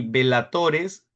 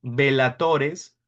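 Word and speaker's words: bellatores: Velatores se escribe con doble L. Vela se pronuncia como vela, pero se escribe con doble L. Velatores, oratores y laboratores.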